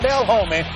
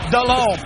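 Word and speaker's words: Delhomme: he can't pronounce it it's not dale holmen it's jake dallon to ricky pearl 62-yard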